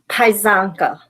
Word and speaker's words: Paizanka: It's Paizanka. So the Z is silent, Paizanka, or the C is silent, I'm sorry.